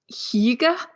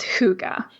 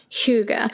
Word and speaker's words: Hygge: The Danes would say something like Hygge. They kind of swallow it. But the accepted international pronunciation is Hygge. Hygge.